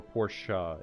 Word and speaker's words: Porsche: yes 944 is in Porsche or porschea if youest that's usually how I say just because uh I think it's partly from doing videos and uh trying to pronounce the words correctly plus Porsche is the name of uh the designer so it is kind